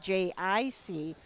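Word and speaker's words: Jay-Eye-See: from the early 1900s maybe even 1800s named j-i-c which is spelled j-a-y-e-y-e-s-e-e um but he was a very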